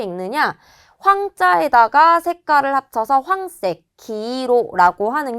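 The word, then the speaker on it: 黄色: 황자에다가 색깔을 합쳐서 황색, 기로라고 하는 게 노란색이 될 거예요.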